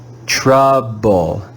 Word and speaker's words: trouble: has a different sound here the digraph o u is red with the short u sound ah ah let's read this word together trouble trouble trouble in this word we